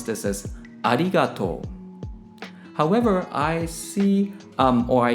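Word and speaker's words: ありがとう: Unlike English, when you speak Japanese, all the syllables are pronounced equally, and so there's no stressing or sustaining. So for example, when I say thank you in Japanese, I pronounce this as arigato.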